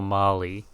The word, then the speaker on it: Marle: Do you pronounce it Marl or Marley? And he's like, oh, Marley. And I'm like, that's also how I pronounce it.